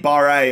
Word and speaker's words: Barre: Transfer offer here from River Plate for Kaidi Barre. I did have a few comments in the last episode because I was calling it Bear, and I wasn't certain. Barre is how I pronounce it, so I'm going to